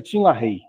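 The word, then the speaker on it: Tim LaHaye: Tin Lahiay escreve, mas pronuncia Tin Lah Rei.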